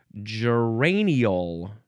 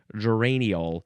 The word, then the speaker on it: geraniol: It is geraniol. Geraniol. You could also say ol at the end.